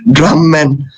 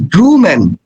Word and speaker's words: Drewman: Then he told us, Drumman, my name is Drewman.